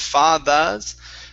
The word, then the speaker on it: father: Give me a good ER sound instead of fathers. Father. Curve your tongue back.